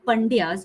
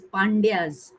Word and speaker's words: Pandyas: But the true way of pronounce it is not Pandyas, it is Pandyas.